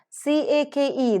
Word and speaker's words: cake: C-A-K-E, the first K is aspirated, the second K is not aspirated.